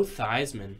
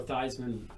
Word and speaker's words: Theismann: went to Notre Dame they thought it'd be better if it rhymed with Heisman yeah so the whole family changed the pronunciation to thighs and look where Joe Theismann a c-17 249 he